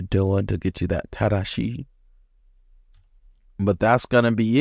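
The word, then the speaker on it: 正しい: And then we've got tadashi, meaning correct. This word uses a reading you didn't learn from the kanji, so you have to remember the tada portion in order to read this word.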